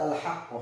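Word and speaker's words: الحاقة: Artinya yang tipis ketarik, H-nya ini ketarik, sehingga banyak yang salah ketika mengucapkan surat Al-Haqqah ayat 6. Al-Haqqah. Salah. Jadinya dua-duanya tebal, tapi ucapannya adalah Al-Haqqah.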